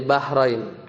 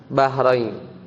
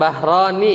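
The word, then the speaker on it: بحرين: Karena dia musanna, dia bacanya Bahrain, bukan Bahroni ya, bukan Bahroni pakai alif, kalau itu marfu, tapi Bahrain.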